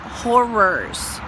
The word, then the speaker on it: horrors: know what i mean not but horrors two syllables not one all right anyway so